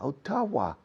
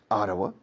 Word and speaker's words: Ottawa: Oh, no, Ottawa. ¿Cómo lo dices? Ottawa. O sea, Ottawa. More or less.